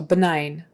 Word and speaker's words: benign: the G silent and the I is a long I sound so benign benign it's not harmful